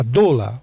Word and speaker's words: doula: Como sabem, chama-se a doula, ou dula, como a pronúncia varia, que é aquela acompanhante,